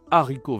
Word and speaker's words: haricots: Attention, on ne dit pas des haricots verts parce que il y a un H qu'on ne doit pas prononcer ici. Des haricots verts.